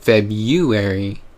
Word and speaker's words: February: It's spelled February, but we pronounce it February for some reason.